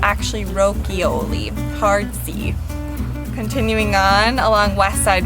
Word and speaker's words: Rochioli: winery and vineyard rokioli people will say maybe rochioli but it's actually rokioli hardsy continuing on along westside road another very